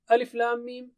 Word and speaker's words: الٓمٓ: Telah kita bahas الٓمٓ, huruf-huruf ini disebut حروف مقطعات, oke? مقطعات yakni huruf-huruf tersebut, الٓمٓ, tidak disambungkan saat dibaca. Kita tidak membacanya اَلَمْ, tapi kita baca الٓمٓ. Setiap hurufnya dibaca sendiri-sendiri. Itu sebabnya kita tidak menerjemahkannya, kita sebut saja الٓمٓ.